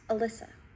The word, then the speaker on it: Alyssa: Oh, it's pronounced Alyssa.